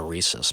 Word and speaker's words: Reese's: I'm getting myself H Reese's too I know you said Reese's I is that the wrong one some people pronounce it Reese's others it's Reese if you ever listen